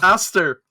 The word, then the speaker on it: Aster: Aster. Like Okay. asteroids. Space.